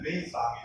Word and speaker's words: Xuanzang: Just after Xuanzang, who is widely known as Xuanzang in India, but his actual pronunciation is Xuanzang.